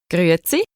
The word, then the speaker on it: Grüezi: তো এই উচ্চারণটা হচ্ছে একটু টাফ আছে। তো একটু প্র্যাকটিস করলে হয়ে যাবে আরকি। গ্রুসেই।